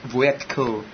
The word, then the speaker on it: Voytko: Voytko.